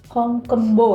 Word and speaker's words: Hong Geum Bo: Vaksinya itu jadi eh honggumbo. Hongkembo ya bacanya ya.